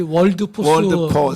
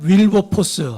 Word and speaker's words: 윌버포스: 목사님 다 잘하셨는데 그 윌리엄 그 우리 월드포스 우리 목사님 그 발음이 목사님 저거 발음이 뭐 월포스라고 약하죠, 하기도 그렇죠? 하고 근데 월드포스라고 윌리엄 윌버포스 윌버포스. 치실 때는 이제 윌버포스인데 뭐 윌버포스나 월드포스나 다 알아들 수 있지만 윌리엄 윌버포스 이